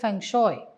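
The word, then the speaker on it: feng shui: இந்த பங்ஷோயின்னும் சொல்லுவாங்க இல்லஷோயின்னு சொல்லுவாங்க. சில பேர் பங்சோய் அப்படின்னும் சொல்றாங்க. பட் நான் அத பங்ஷோயின்னு சொல்லி நான் பழகிக்கிட்டேன் அதனால நான் பங்கஷயு சொல்லுவேன். சில பேர் பெங் சுயி அப்படின்னு சொல்றாங்க அப்போ லைட்டாதான் உச்சரிப்பு மாறுது ஆனா அதுக்கே வந்து கொஞ்சம் எல்லாரும் வந்து இல்ல இல்ல இதுதான் உச்சரிப்பு அப்படின்னு சொல்றோம் பட் பங்ஷுனா என்ன அப்படின்னு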